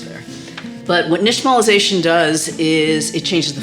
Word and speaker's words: nixtamalization: Another cool thing about this word, the X, pronounced sh, comes from an indigenous language, because this is a